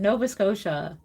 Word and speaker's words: Nova Scotia: Nova Scotia. Thank you for pronouncing that correctly for me.